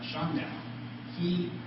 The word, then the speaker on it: Shandao: his cues from a previous Chinese theologian named Shandao. This is a Zendo in the Japanese pronunciation.